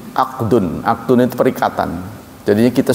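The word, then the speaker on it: عقد: Diucapkannya mirip ya. Ahdun pakai H, ahdun, akdun.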